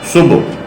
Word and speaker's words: صبح: درست تلفظ ہے مشرق۔ ہم صبح پڑھتے ہیں، اس کا صحیح درست تلفظ ہے صبح۔ سرسراہٹ ہم شمال پڑھتے